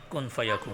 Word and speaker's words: kun fayakun: Kun fayakun.